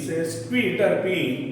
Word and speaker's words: sesquiterpene: Name of the active ingredients, तर इट इज सेस्क्विटर्पिन. बघून घ्या spelling, SES QUI, सेस्क्वी, SESQUI TERPENE, सेस्क्विटर्पिन. Ketone, KETONE.